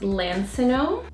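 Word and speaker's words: Lansinoh: I think it's pronounced Lancinone.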